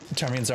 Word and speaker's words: ptarmigan: Ptarmigans aren't on custom yet. Fish broth, yeah, exactly. You just call them pigeons? Yeah, it's P.T. Armigans, basically. It's definitely, sounds different than it's spelled.